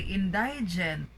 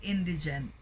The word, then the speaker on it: indigent: Oh, this is a commonly mispronounced word because we often hear people say indigent, okay? Or the needy, right? So it should be indigent.